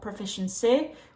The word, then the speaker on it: proficiency: tense we don't want proficiency we want proficiency proficiency per that first syllable is extremely lazy we Glide from the